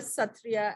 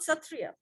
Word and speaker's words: Sattriya: the international phonetic association where the sa is pronounced like a kh sound or just to explain it better for you bach b a c h the c h like that lock loch ness monster and all that so